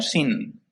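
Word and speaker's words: σύν: ellas es son o se pronuncia como sin la palabra griega es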